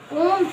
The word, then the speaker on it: ओम: जैसे हम लोग ओम का उच्चारण करते हैं तो ओम आ से स्टार्ट होता है।